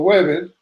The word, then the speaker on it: Webre: A las 2 de la mañana, Alfred Lambermont Weber, pronunciando Weber, estaba despierto, trabajando a